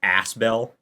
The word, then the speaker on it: Asbel: Pascal please Pascal Pascal noted asbell okay it's pronounced asbell it's not my bad ass I'm I'm gonna